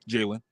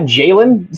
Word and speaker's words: Jayden: So now I'm looking ahead and I'm issuing an open challenge with you, Jayden. I'm not Jaylen. Say my name correctly.